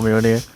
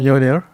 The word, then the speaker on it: Mjolnir: Mjolnir. I might be butchering as well, but Absolutely cannot. it's like Y instead of J Yeah. when you pronounce it.